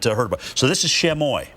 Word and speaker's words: Chamois: about so this is chamoy right here Chamois is how you say that the end s is silent as the gentleman told